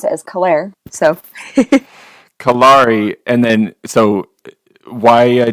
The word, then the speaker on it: Kalare: version of Clara so it's okay so you'd mispronounce it as Claire so kalari and then so why a German first name